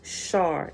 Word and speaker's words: sar: or divine time called a sar pronounced shar and it has a